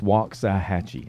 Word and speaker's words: Waxahachie: But it's Waxahachie. I always said it was like the wok you make Chinese food in. Yeah. But it can be. Okay. But it has an A.